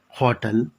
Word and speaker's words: hotel: You must keep in mind in words hotel, happy, healthy, house, Hindu, heavy, horse, article an is not acceptable because the H in these words is pronounced.